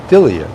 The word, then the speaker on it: Delia: It's Delia, yes.